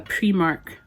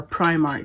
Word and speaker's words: Primark: is not a Stanley this is a a premark knockoff or Primark depending on how you say it I'd rather